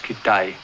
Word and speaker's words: Kitaj: Kitaj. It's pronounced Kitai.